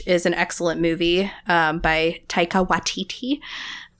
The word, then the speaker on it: Taika Waititi: Last week's episode was Jojo Rabbit, which is an excellent movie by Taika Waititi. Watiti. You were right. Taika Waititi. Yep. It's like, am I saying it right? Because there's so many eyes.